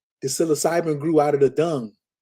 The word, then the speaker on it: psilocybin: Then you say, what is it, Psilocybin? How you say it? Psilocybin network?